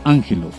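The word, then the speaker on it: ἄγγελος: términos griegos a saber aggelos pronunciado ángelo que significa mensajero o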